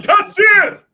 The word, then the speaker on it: Kassir: I like that because it's more exotic that way than Kasser. John Kassir.